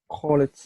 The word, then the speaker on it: called: Okay, now all the rest, the pronunciation is going to be with D.